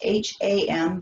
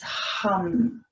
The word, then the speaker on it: ham: So again, it's spelled H-A-M, but it's not ham, it's hum. And again, we accentuate the H, the short A, and the long M again.